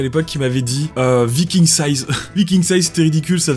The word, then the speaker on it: VIKINGsize: dans la description, et il prononce Viking Size à l'anglaise Viking Size, et j'avais envie de